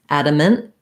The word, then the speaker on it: adamant: short adamant that's because i'm not saying that t i'm shortening the n stopping the air to mark the t but not actually releasing the t so i can say adamant with a little release of air a little true tea adamant but typically in connected speech i'm going to use a stop t there he was adamant